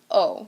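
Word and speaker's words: aux: a and Le become o you don't pronounce the X at the end but it is there so o uh so you would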